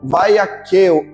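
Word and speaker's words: Vaiak'hêl: A primeira porção, o nome dela é Vaiaqueu, ou Vaiaqueu. Você pode pronunciar? Diga Vaiaqueu, fica mais fácil.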